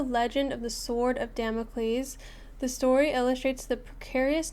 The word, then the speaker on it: Damocles: Damocles. Wait, I need to sound. Damocles. Damocles. Mles. Stress on the first syllable.